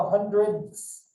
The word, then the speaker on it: hundredths: used for the others, but with a ths. So you spit on people when you say it. Okay, this is the tenths, the hundredths. So it's spelled HUNDRED with a THS on the end of it.